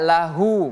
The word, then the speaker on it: lahu: Lahu di sini ha menggunakan ha besar. Jadi kita baca lahu bukan lah tapi lahu.